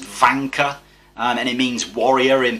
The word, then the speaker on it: Wanka: Wanka, although that's how it's spelt, is actually pronounced Vanka, and it means warrior in Peruvian.